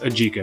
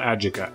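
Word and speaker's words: adjika: It's pronounced ajika, not ajika. Ajika.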